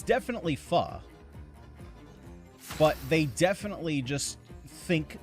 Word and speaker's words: pho: of weird is because I am assuming that they probably say it like most Americans, which is faux. And that would make it FOCO, which would make sense. It would rhyme. However, that's not how you pronounce it, and it's pronounced pho.